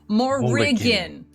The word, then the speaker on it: Morrigan: There's a syllable in there that I drop almost every session. So Morrigan.